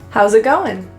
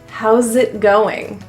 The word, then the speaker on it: how's it going: How's it going? The S in house will actually be pronounced as a Z, which links to the next word. It will sound like you're saying zit. How's it going?